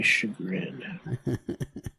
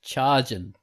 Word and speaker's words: chagrin: word for the day chagrin much to my chagrin that's how I used to pronounce it always charging if I hadn't had you guys yeah I